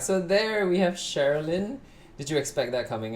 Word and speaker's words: Cherilyn: So the CHER part of Cherilyn is pronounced as Cher, I guess, right?